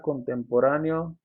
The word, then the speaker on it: contemporáneo: el texto la palabra contemporáneo se acentúa por poseer un diptongo bueno la verdad aquí la explicación es que esta es una palabra esdrújula o sea era su tónica está en la antepenúltima sílaba porque cuando tenemos dos